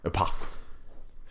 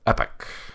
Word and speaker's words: epoch: Epoch guy now apparently Epoch it's actually pronounced epic epic epic um but